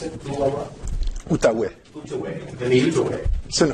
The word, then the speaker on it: Outaouais: He teaches strategic management and project management at Université de Quebec on, how do you pronounce it? Outaouais.